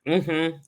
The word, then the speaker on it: Dieula: Child. Phonetically, Jurla. Okay, say it one more time. Jurla. Phonetically, Jurla. Jur Jurla. Yes. Fascinating. Okay, you are Haitian born. Yes. Okay, and would that so Jurla would be French? It's more Haitian Creole, French-ish, because the Dieu means God in French.